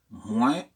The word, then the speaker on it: moins: prononciation de deux mots moins et plus il s'agit pas d'une faute monumentale non plus mais dans le français standard le S qui est à la fin des mois ne se prononce pas quant au plus il